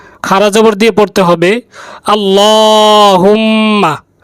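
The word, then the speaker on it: اللهم: করে উচ্চারণ করব আল্লাহুম্মা লামের মধ্যে খাড়া জবর রয়েছে তাই এক আলিফ টান দিয়ে পড়তে হবে এখানে খাড়া জবর দেয় নাই এটা ভুল হয়েছে খাড়া জবর দিয়ে পড়তে হবে আল্লাহুম্মা আল্লাহুম্মা ইন্নি ইন গুন্না রয়েছে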